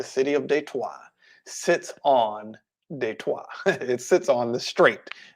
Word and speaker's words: Detroit: don't live there anymore detroit they twice detroit and how we pronounce it in english and what de trois means is the street